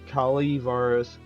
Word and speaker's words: Calaveras: This is the notorious jumping frog of Kali Varus County, pronounced Kal Varus.